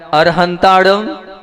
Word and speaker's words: अरिहंता: वो कहला रहे हैं अरु तो अर अरी और अरु ऐसे उच्चारण करना है आप लोग वैसी के वैसे उच्चारण करते हो तो मैं आप लोगों से ये कह रहा हूं अरहंत अरिहंता और अरु हंता